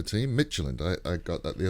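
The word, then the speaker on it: Mechelen: champions league um and it's michelin is how you pronounce that other team michelin i i got that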